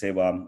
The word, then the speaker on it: seva: Community seva, it's pronounced as seva. I know many of them as is seva or seva. Seva is a Sanskrit word, means selfless service.